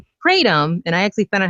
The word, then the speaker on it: Kratom: It's Kratom, and I actually found out how to actually pronounce it myself, even though I've been spelling it for several years online now.